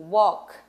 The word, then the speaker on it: walk: gente precisa pronunciar aula é claro que tem exceções como em work i walk a apesar de ter welly na escrita ali ele tá lá só que ele não é pronunciado então tem sessões lá